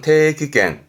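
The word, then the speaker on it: 定期券: 발음은 태기겐, 태기겐.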